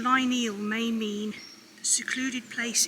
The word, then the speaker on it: Lineal: far this year so just arrived in lineal that's how i've always pronounced it i hope that is out correctly so i couldn't find much information but the name line eel may mean the secluded